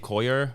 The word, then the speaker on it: Coulier: It's Coulier. Just let's go. Let's get to this fact. Let's get this over with. But it's French, so it's spelled I-E-R. Yeah.